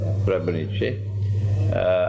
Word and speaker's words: Srebrenica: I have rejected the claim of the genocide of Srebrenica. That's the correct pronunciation? Srebrenica.